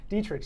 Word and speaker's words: Dietrich: Dietrich Wise. Dietrich. That's a tough name like to ostrich.